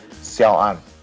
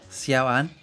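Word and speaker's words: Xiao'an: Let's get into the interview with Xiao’an. So please enjoy. First of all, tell me how to pronounce your name so I do that correctly. Xiao’an. Xiao’an? That's good. That's actually exactly right. Xiao’an.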